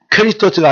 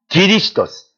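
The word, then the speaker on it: Χριστός: 그거 발견되면 그리스도 예수 안에 있는 한 예수 그리스도스, 이 크리스토스가 아니라 기리스토스. 그거 이제 헬라식 발음이에요.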